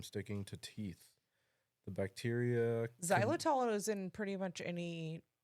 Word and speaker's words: Xylitol: Xylitol? Yes, there you go. Xylitol is a natural sweetener that prevents cavity-causing bacteria from sticking to teeth. The bacteria. Xylitol is in pretty much any sugar-free gum.